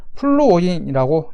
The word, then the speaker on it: 플루오린: 플루오르라고, 독일어식 발음입니다. 플루오르라고 이제 표기하고 배웠는데, 지금 친구 여러분들은 영어식 명칭인 플루오린이라고 이제 부르고 있죠.